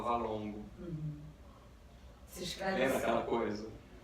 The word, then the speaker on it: VLNGO: Então, assim, se escreve VLNGO, mas se fala Valongo.